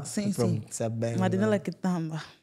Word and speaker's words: Quitamba: coração a todos vocês, principalmente a nossa convidada, Kitamba. Certo. Kitamba. Sim, sim. Marinela Kitamba.